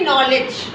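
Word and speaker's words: knowledge: इसमें क्या होता है, ये वाला जो के है वो चुपचाप हो जाता है, साइलेंट हो जाता है, कहता है ठीक है इसकी एन की आवाज़ आ जाने दो। तो क्या बोल रहा है, इसकी आवाज़ आनी चाहिए नॉलेज। क्या है इसकी आवाज़, नॉलेज।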